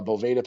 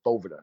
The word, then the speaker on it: Boveda: you might throw the a Boveda pack inside a actually it's a Bovada excuse me I always pronounce